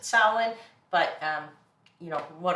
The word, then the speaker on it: Samhain: in that time they called it samhain or sal sullen um i pronounce it salad but um you know